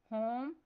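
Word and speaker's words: whom: Next word है होम। इस word में साइलेंट लेटर डब्ल्यू पर सर्कल करना है।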